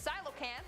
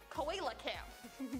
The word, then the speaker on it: coelacanth: The coelacanth, which is spelled nothing like it's pronounced, I thought it would be like coelacanth, but no.